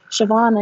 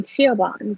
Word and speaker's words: Siobhan: british english it's spelled as s-i-o-b-h-n but it's pronounced siobhan and i was reading that as a teenager and saying siobhan because i had no way of knowing how